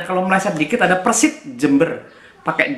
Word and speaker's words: Jember: Ini Jember, ada ejaan nama kan Jember pakai DJ kan, Jember.